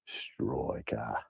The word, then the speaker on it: Stroika: You need to say it. Can you use the Stryker the right way? Troika. Stroika. That's how you say it.